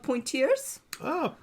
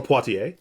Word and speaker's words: Poitiers: He became a disciple of Saint Hilary of Poitiers. Or Poitiers. Poitiers, yes. It's French. It's okay. No one can pronounce French.